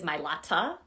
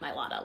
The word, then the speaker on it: Mailata: messed it up and he says his last name is milata not milata like we say his dad was a